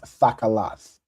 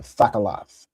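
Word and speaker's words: תכלת: Remember everything has that ah sound, right?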